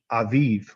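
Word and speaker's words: אביב: is in hebrew yes in vib but it's pronounced aviv okay and it means the um first uh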